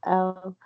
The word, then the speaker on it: Elle: I know you got it right the first time. It's Elle.